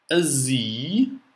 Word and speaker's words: Sie: Sie. Z, три буквы Z, то S и E. Первая S вначале читается как Z.